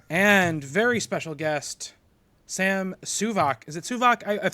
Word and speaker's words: Suvak: It's Suvak. Suvak, like okay. a heavy vac, like a vacuum.